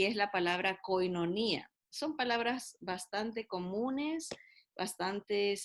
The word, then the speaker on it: koinonía: griego tiene otro alfabeto no pero así la pronunciamos koinonía verdad y la palabra koinonía es una palabra